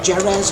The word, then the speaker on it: Jerez: When we go pick the track, it's Jerez or Jerez, however you want to pronounce it.